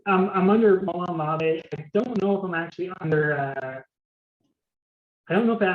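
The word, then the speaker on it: Molon Labe: So I don't know if Profitly, my username on Profitly is Molamabe. That's how you pronounce it? Here. Yeah, it's Molamabe. Oh, I was like Malone-a-Labe. Yeah, it's Molamabe. It's I actually got it from the movie 300.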